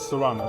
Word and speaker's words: Sano: before we get started Mr Sano am I pronouncing your last name correctly because I don't want to be disrespectful yes Sano is correct okay s okay sir